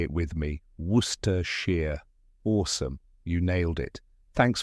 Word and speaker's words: Worcestershire: one more time ready say it with me Worster Shear awesome you nailed it thanks for watching if